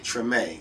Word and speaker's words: Tremé: How do you pronounce it? Is it Tremé or Tremé? Tremé.